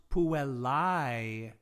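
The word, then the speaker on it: puellae: puella singular girl becomes pue lai girls okay that diphthong that a and e together we pronounce that like it's the english word i so puella is girls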